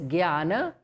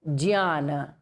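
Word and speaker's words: jñāna: A Hindi speaking person says Gyana, correct. Or a Sanskrit person says Jnana, all three are correct. But here in this course, we are going to pronounce it as Jnana, not to be confused with the others.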